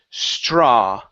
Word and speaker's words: straw: yeah right here so looking at the a w instead of stra it's only an a sound so straw straw okay very good